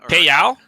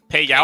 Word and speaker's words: Pei Yao: Pei Yao? Pei Yao, I believe is how that's pronounced. Thank you.